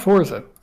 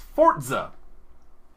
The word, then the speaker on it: Forza: Oh yeah, that's it's not Forza. No, it's Forza!